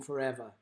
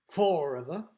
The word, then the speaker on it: forever: be able to hear EV is the syllable that's dressed in forever it's not forever it's not forever it's forever so so there's our pattern